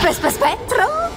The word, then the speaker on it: spettro: tu possa essere uno spettro Infatti lo sono però la pronuncia corretta è SP spetro posso Certamente che mi